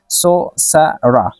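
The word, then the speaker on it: sorcerer: है अब देखिए ये इसको हम प्रोनाउंस करेंगे सो सरा सोसरा सोसरा ये मेस्कल है अगर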